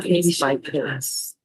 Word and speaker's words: Case X Case: I think that's pronounced case by case.